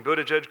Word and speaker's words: Buttigieg: of people gave up a while ago on pronouncing Buddha judge correctly they just call me mayor Pete feel